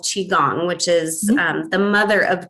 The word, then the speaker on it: qigong: giles spelling is c-h-i separate word g-u-n-g um qigong is how we pronounce it and she had been practicing with